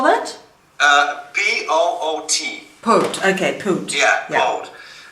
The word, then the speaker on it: Poot: So how do you spell that? P-O-O-T.